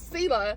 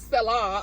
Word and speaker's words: Selah: Berggren, and I've been saying Keturah. I just said it again. It's Keturah. My southern I cannot pronounce, and her sister is Sela, not Selah.